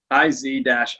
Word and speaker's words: Isaias: It's Isaias, IZ-I-E-AHS. That's kind of how you pronounce it.